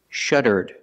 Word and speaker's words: shuddered: If I change the verb in the past, I put ed and I pronounce it like this, shuddered, shuddered, with a d sound at the end, shuddered.